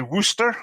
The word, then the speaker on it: Worcestershire: A real American would call it Worcestershire sauce. But it's actually the correct pronunciation is actually Worcester, so it's just like WOO. You would say it like Worcester, so Worcestershire sauce.